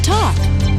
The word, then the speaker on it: talk: word is the word talk spelled t a l k oo sometimes L is silent right so if we